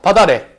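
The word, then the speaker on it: 밭 아래: 그래서 얘가 발음이 어떻게 되냐면 바다래 이렇게 발음이 됩니다. 발음해봐. 바다래.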